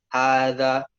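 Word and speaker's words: هٰذَا: Nah, pada pelafalan hadza di situ, bacaan haknya harus dipanjangkan. Gitu. Hadza, bukan hadza, bukan. Tapi bukan hadza, bukan juga, tapi hadza.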